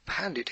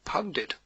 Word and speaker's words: pundit: person may call himself pandit instead but whether it is pandit or pundit or pundit or pounded it is precisely the same pundit is an